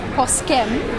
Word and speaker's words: Poskem: Well, it's Poskem, but Poske is the pronunciation.